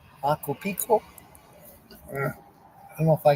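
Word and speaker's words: Machu Picchu: It's supposed to have a hard C sound in it when it translates to massive mountain. But over time, it started to be said wrong and stuck.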